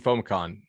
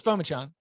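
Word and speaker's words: Phommachanh: So Clemson, in the spring game, Tyson Fomacon, I'm mispronouncing his name. He was their backup quarterback. Because it's Fomachan.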